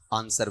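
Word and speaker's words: answer: आंसर। वह sound कहीं नहीं है। डब्ल्यू इसमें क्या रहेगा? साइलेंट ही रहेगा। ठीक है? आंसर सीधा बोला जाएगा।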